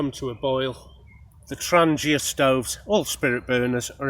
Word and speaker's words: Trangia: pronunciation and there was a guy from Sweden who insists it is called Trangia but other norsk people will pronounce it rania and I think both are correct depending on the dialect of where you come from I've actually cleaned my